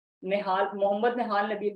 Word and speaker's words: Nehal: तो यहाँ पे आप मेरी प्रोफाइल को जो है वो जाके चेक कर सकते हो, इंस्टाग्राम को निहाल मोहम्मद निहाल नबील के नेम से मेरी आईडी है।